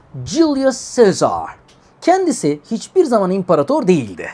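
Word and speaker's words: Julius Caesar: Bu arada Jül Sezar'ın İngilizce okunuşu Juli Cezar.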